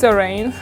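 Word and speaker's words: Zhereing: My business name is Zerain. It's spelled Z-H-E and then R-E-I-N-G.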